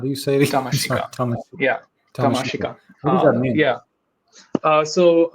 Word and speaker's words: Tamashika: uh Tom to how do you sayas yeah tamasik yeah uh so U I like that because